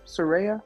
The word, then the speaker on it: Saraya: Saraya. Okay, like psoriasis.